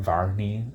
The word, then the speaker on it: Varney: And the name rhymes with Barney, so everybody's gonna make fun of him too for that. Like, he could have had a better name than Varney.